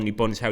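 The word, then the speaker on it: 日本: When he says Nippon, Nippon is how you say Japan in Japanese.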